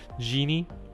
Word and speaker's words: Genei: my apologies right because i heard him say genie okay um but you know genie is kind of spelled with ie instead of eei so right so the